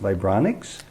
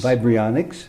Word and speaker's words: Vibrionics: I think it's pronounced Vibronics. Correct, Vibrionics. Vibrionics, and it's unheard of in many corners of the world.